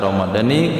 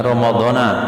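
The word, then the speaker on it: رمضانِ: Nawaitu shauma ghadin an adai fahli syahri ramadhani hadhihi sanati lillahi ta'ala. Dibaca ramadhani karena dia jadi mudhaf, jangan ramadhana.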